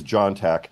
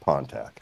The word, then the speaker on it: Pontac: got my name wrong it is John Tac not ponac I'm the I'm finally